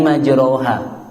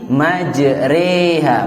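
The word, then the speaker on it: مَجْرٰىهَا: ayat-ayat yang di luar jadi majreha walaupun harokatnya adalah fathah ya walaupun harokatnya fathah itu cara bacanya Bismillahi majreha wa mursaha dan bacanya juga Mad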